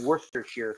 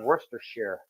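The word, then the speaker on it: Worcestershire: wor shest Shire sauce AKA Worster Shear sauce I know that's another one of those long running internet jokes that nobody knows how to pronounce Worster Shear you know like liver worst Worster Shear or Shire if you prefer either works but all my life I grew up pronounce uh my family pronounced it Worster share definitely a smell to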